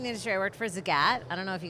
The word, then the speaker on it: Zagat: office and it said think the cat but say Zagat so that's how I